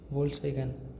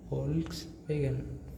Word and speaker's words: Volkswagen: This word becomes like fa, fa. So for if V means fa, right? Only letter V here means fa. So V became fa, OLKS, Olks, WAGN, Wagon.